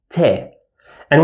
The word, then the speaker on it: ط: This one obviously represents the hard pattern, Ta. And whenever we pronounce a hard pattern sound, I round my lips small and leave a gape, Ta, Ta. And you feel like you are pushing air outside your mouth, Ta, Ta.